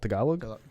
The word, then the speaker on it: Tagalog: focuses on it's called tagalog so it's for people that are like how do you spell that just think of like tagalong with the cookies but like more emphasis yeah yeah so like